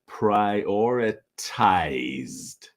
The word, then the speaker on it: prioritized: fixing now here in the past tense pronunciation okay you can you can see the e but the pronunciation is prioritized prioritized we prioritized user experience improvements in the last update so again present is prioritize the past is prioritized okay not prioritized prioritized so third example in